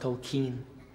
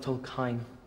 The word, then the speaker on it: Tolkien: Tol Kain. It's Kain, sir. What? It's pronounced Tol Kain, sir, not Tol Kain.